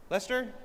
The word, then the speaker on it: Leicester: How do you say is that Leicester? Lester Lester I probably Jeez, I'm in I've only been in the UK for three and a half years.